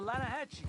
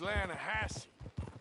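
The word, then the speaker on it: Lannahechee: lanahashi river no no no no no the the lana hatchy it runs right near here yeah but it's pronounced land hassey why is everything in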